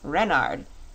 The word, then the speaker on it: Renard: is King Renard IV Renard with the accent on the ren what's Ren asked button